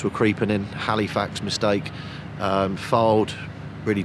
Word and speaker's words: Fylde: Halifax mistake, Fylde, really 2 mistakes, and I thought Fylde we actually played very, very well. Is it Fylde or Flyde? Fylde. Have I said it right? Yeah, you said it right.